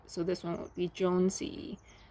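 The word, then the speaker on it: jonesii: acer aca acer ace if you find the name in the scientific name pronounce name don't break it up so this one would be jonesy not joe nesci and this last one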